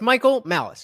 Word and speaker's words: Michael Malice: It's Michael Malice. His name is Michael Malice, and it's spelled like malice.